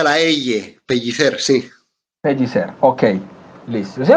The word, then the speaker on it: Pellicer: Se pronuncia la pellicer.